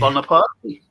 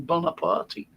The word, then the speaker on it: Bonaparte: Bonaparte. That's how you pronounce his name, Bonaparte. Bonaparte. Because he was born in Corsica, which was a part of Italy at the time.